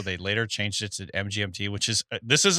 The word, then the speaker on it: MGMT: till just now uh the band name MGMT is pronounced as the individual letters MGMT and is not an abbreviation for management oh wow what is